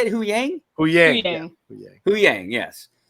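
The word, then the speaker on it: Huyang: we love Huang how do you say it who Yang oh yeah who Yang yes oh man Kotor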